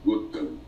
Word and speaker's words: Gautama: obrigação de saber sânscrito o Buda se chamava gotama escreve-se gautama pronuncia-se gotão muitas seitas budistas o